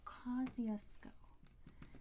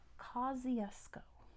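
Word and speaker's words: Kosciuszko: Australia close enough kesco okay it is Mount Cusco now it's a Polish name my goodness but that's not how they pronounce it in Poland that's how they pronounce it in Australia so let's spell this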